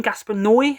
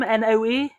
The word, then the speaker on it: Noé: I never know how to say his name. Gaspar Noé, I call him. Noe.